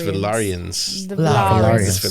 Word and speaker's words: Valyrian: saw a clip about how we're saying this name wrong the valan it's valarian did you did you see the knife that